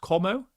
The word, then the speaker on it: Como: So for anybody who's unaware, Rafael Varane moved to, I think it's pronounced Como in Serie A.